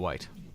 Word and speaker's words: wight: has an alternate pronunciation from white.